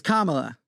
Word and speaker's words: Kamala: good one it's it's Kamala it's not that hard people Kamala Kama the little thing La it's easy it's like the